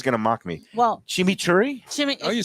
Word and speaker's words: chimichurri: Well, chimichurri? You said it right. Chimichurri. This time I said it. Okay. Before I said it, chimney.